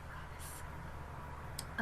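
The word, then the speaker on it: Ravus: voice for robis but I don't know it's pronounced Ravis but I just say robis um me of course was glorious always made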